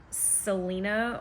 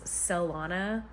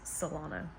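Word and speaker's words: Celaena: her name I know some people call her Selena or Selena I don't know according to Sarah's video it's salana but I'm also having trouble saying that so if I keep changing the pronunciation just know that the correct name is salana so they've traveled to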